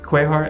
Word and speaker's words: Qajar: This is a portrait of a king, a Qajar king, or it would be pronounced possibly Quehar in English.